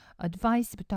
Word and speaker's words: advice: 스펠링 주의하세요. advice, C로 끝날 때는 명사입니다. advice, 충고라는 명사고요. advise, 발음도 틀려지죠. advise라고 되면은 S로 끝나고요. vise 이렇게 되면 동사, 충고하다라는 동사가 됩니다. 지금은 명사니까요. advice라고 발음하시면 되고요.